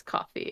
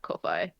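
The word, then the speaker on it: Ko-fi: just recently learned that it's coffee and not kofi yeah yeah definitely coffee kofi in new zealand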